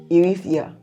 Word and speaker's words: Eritrea: Eritrea. Or you can call it Eritrea in her own. Eritrea. Yes, in her own, with her own accent.